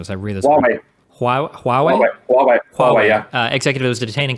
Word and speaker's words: Huawei: How do you feel about the Hawaii? I'm butchering the pronunciation as I read this. Huawei, yeah.